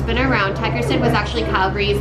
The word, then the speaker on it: Tigerstedt: So Alice, first of all, tell me, how do you pronounce the name of this block? Tigerstedt.